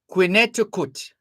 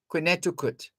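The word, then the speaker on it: Quinnehtukqut: it or it was translated as q-u-i-n-n-e-h-t-u-k-q-u-t quineticut that was 1788 so in American Indians speak that's how it was spelled and pronounced quineticut well today it's known as Connecticut or as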